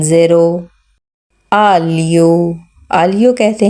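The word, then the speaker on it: aglio: जाता है पंजाबी में अलियो के अगर स्पेलिंग देखा जाए तो इसमें जी एल और आई जो है यह ली की आवाज देंगे य आलि आलि ठीक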